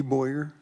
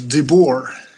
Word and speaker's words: De Boer: Boyer, how do you say that, Martin? It is De Boer. Okay. It is Dutch.